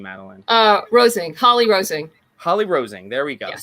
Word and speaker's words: Holly-Rosing: How do I pronounce the last name, Madeline? Rosing. Holly-Rosing.